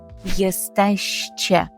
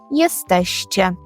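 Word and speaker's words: jesteście: група людей маємо на увазі групу людей скажемо єстеще єстеще така цікава привимові форма тому потренуйтеся вголос кілька разів повторіть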